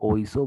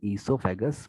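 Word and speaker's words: oesophagus: ओ silent है, ठीक है। कई लोग ओइसो बोलते हैं बट ओइसो सही नहीं है, इसको अपन ईसोफेगस बोलते हैं।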